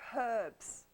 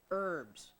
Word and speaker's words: herbs: yes we're gonna talk herbs herbs herbs the H is Silent not the r no well what are